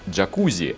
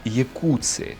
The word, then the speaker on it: Jacuzzi: стоит имя американского производителя кстати правильно не должно было быть не джакузи а якутск так как у создателя массажные ванны было итальянская фамилия которая производится какие курсы